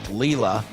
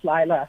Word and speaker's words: Lila: My name is Lila. Oh, No worries. Lila. Okay. Hi, Lila. No problem. It's the way it's spelled.